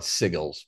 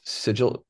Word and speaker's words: sigil: grimoire lab this that I always call it siggles but it's sigil how do you say